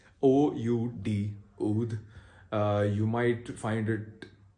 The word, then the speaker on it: oud: So it is O-U-D, oud. The D here is pronounced as the sound of T-H-E, the.